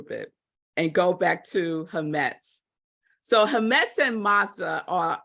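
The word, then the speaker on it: חָמֵץ: So that's the word, but it's pronounced hametz.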